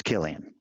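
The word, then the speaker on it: Cillian: oh yeah so Killian Murphy Killian okay it's Killian see has a lot of different pronunciations today it's also and a couple he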